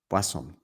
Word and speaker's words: Boisson: Basson rhymes with quason.